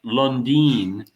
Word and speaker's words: London: my name, the London part, is supposed to be pronounced Lundin, and Uh-huh.